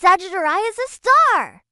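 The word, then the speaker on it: Sagittarius A*: Ours is named Sagittarius asterisk, pronounced Sagittariah as a star.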